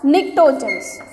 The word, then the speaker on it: pnictogens: The name for the 15 family elements as pnictogens. Yeah, P is silent.